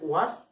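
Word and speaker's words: worse: উচ্চারণটা অনেকে ভুল করে ওর্স বলে আর ওর্স্ট বলে, এটা সঠিক উচ্চারণ নয়। সঠিক উচ্চারণ হচ্ছে ওয়ার্স আর হচ্ছে ওয়ার্স্ট। অর্থাৎ আমরা তাহলে শিখলাম ওয়ান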